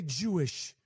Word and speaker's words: Jewish: the Jew the Jews Jewish Jewish you can get the extra syllable out okay it don't take that much energy to say Jewish I appreciate your input